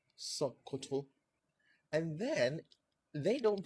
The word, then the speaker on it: Sokoto: So it's not Sokoto. It's not Sokoto. It's gonna have something that sounds a little bit like schwa and with a glottal stop, Sokoto.